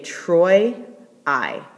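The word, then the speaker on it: Troiae: right here we say Troy I so that oi gets pronounced together Troy and then the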